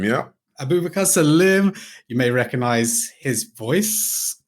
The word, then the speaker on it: Abubakar Salim: Am I pronouncing that correctly? Abubakar Salim, yeah. Abubakar Salim.